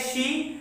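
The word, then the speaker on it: し: ही बताया था कि नंबर 4 का 3 प्रोनाउंसिएशन होता है। एक है शी, दूसरा है यो, तीसरा है यॉन। शी, यो, यॉन। तो इन तीनों का प्रोनाउंसिएशन, मतलब इन तीनों का जो यूजेस है, तीनों का यूजेस अलग अलग होता है, हालांकि तीनों का मतलब एक ही है 4।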